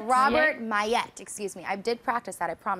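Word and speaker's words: Maillet: Next week for the season finale of The Strain, we do have the master himself, Robert, how do you pronounce it? Millet. No, it's Mayette. Robert Mayette.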